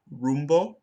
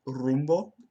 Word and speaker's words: rumbo: Okay, and then in the word rumbo, I mispronounced it with an English retroflex like rumbo, but it should be rumbo.